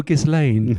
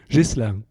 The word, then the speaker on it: Ghislain: but first we had to sort out some pronunciation issues hello Gan I hope Gan is the right way to pronounce it it's JIS jisa but I mean almost 10 years in the